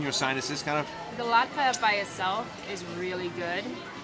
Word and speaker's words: latke: I've been saying it wrong. I've been calling it a latke. It's a latke.